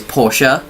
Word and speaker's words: Porsche: Now, I might have been saying Porsche the whole way through this episode. The actual way you pronounce it is Porsche.